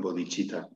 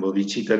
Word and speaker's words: Bodhicitta: proyecto de mi maestro, que es la Asociación Bodhicitta. La asociación Bodhicitta es una palabra sánscrita que se escribe B-O-D-I-C-I-T-T-A.